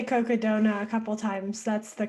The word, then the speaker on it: Cocodona: Now I heard you say Cocodona a couple times. That's the correct pronunciation of it. I think Cocodona. so. Okay. I think it's like Coconino County and Sedona mixed together, like Coconino and Sedona, Got it.